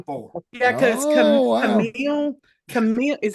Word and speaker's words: Camille: Camille is, how do you say her name? Camille.